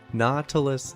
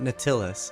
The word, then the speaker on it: Nautilus: the topic Nautilus Nautilus not a nautilus shell nautilus shell Exuma void Nautilus it's pronounced Nautilus he's pronouncing it Nautilus it's not no Tillis it's Nautilus it's pronounced Nautilus it drives me